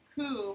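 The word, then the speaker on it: Ko: Ku, but then it's pronounced ku, like K-U, is representational of, it's a noun that means light.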